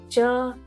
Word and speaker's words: च: for apple we say cha say chai cha say chai pronounce cha as you pronounce ch in chair english word chair cha chair when you speak